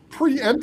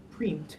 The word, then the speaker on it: preempt: No, but but the idea is that that you're indicating to the reader that you separately pronounce the first two e's. They're not pronounced as pre-empt, it's pre-empt.